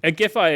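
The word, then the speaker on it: Giffey: can't stress enough like Germans didn't know how to pronounce uh gifi's name for the longest time I don't know how to pronounce her name agify is Right we've had it confirmed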